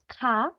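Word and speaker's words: ㅋ: Terus yang bisa buat ketawa nih ada ke gitu, ka, kies.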